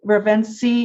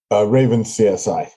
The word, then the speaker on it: Ravenski: Ravenski, is that pronounced correctly? Raven CSI. Raven CSI.